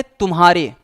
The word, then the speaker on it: तुम्हारे: स्पष्ट करना चाहते हैं, जब हम उच्चारण करते हैं, तो म ध्वनि को पूरा उच्चारित करने से पहले ही हमको ह पर संक्रमण करना पड़ता है। म को पूरा नहीं बोलते हैं। म को पूरा बोलते बोलने से पहले हम अगले ध्वनि पर क्या करते हैं? संक्रमण करते हैं, अटैक करते हैं। इसीलिए शुद्ध उच्चारण होता है।